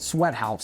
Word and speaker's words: SWTHZ: different and fun yes the place is called Sweat House sweat house but it's spelled like this there's no vowels in it or anything like that so you're going